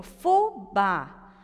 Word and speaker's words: fubá: Então, eu tenho fubá, sílaba tônica no bá. Ela é uma oxítona.